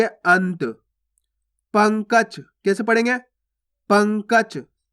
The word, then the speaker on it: अंत: अनत नहीं पढ़ना आपको, अगर आप अनत पढ़ोगे तो इस प्रकार से पूरा ना का उच्चारण हो जाएगा, जबकि अपन आधा ना पढ़ रहे हैं, देखो इस प्रकार से, तो कैसे पढ़ेंगे? अंत।